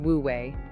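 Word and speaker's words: wu wei: Wooi pronounced woouei does not mean doing nothing.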